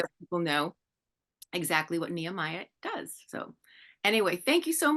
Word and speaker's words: Nehemiah: She is the CMO of Nehemiah.